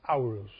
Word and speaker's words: Horus: was aoruz it's written h-o-r-u-s horus but it's pronounced hours and from that comes the t which is